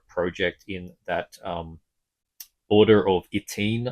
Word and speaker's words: YTNE: in that order of Itine, I think is what you pronounce it, YTNE.